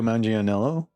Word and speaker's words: Manganiello: Oh my god, how do you say his name? Manganiello. Manganiello? Is it Italian? Joe Manganiello is how I think it is, but all right, whatever.